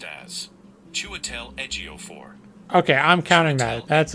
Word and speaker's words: Chiwetel Ejiofor: So the word is pronounced as Chiwetel Ejiofor.